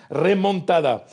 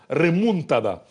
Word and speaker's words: remontada: même hein vous savez il y a deux façons de prononcer le mot vous pouvez dire en espagnol en castillant comme on dit ici remontada ou alors vous pouvez le dire en catalan catalan hein Catala exactement remunada mais que ce soit